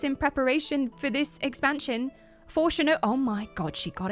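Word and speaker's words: Fourchenault: Chat taught me how to say this. It's French. Forchenot. Look, I ate many baguettes in preparation for this expansion. Forchenot.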